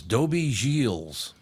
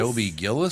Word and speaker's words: Dobie Gillis: Also on the show that day was Dobie Gilles. What? Dobie Gills? You mean Gillis? Dobie Gillis?